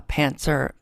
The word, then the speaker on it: pantser: i'm a i'm a pantser pantster i always say it wrong i always say pants are without the tea yeah so and then